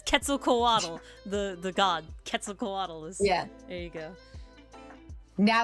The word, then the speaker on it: Quetzalcoatlus: Quetzalcoatlus. Quetzalcoatl. Quetzalcoatl. It's not there's no W. Quetzalcoatlus. Quetzal. Quetzalcoatlus. There you go. Because it's Quetzalcoatl, the god. Quetzalcoatlus.